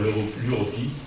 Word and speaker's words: Europi: En fait, la première invitation concerne une manifestation sur l'Europi, d'ailleurs, s'il y a un U qui se prononce où.